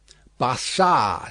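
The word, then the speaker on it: Barsad: so much the better his name basar said the far making it French by pronunciation but he had been so careful to get it accurately that he then spelled it with perfect correctness barad repeated Madame good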